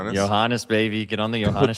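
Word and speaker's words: Johannès: Um, and uh, Marine Johannes, is that how you pronounce his name? Johannes. Johannes, baby.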